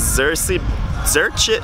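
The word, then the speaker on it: Zrće: So behind me is Zerchit. It's spelled Z-R-C-E with an accent mark. Zerchit Beach.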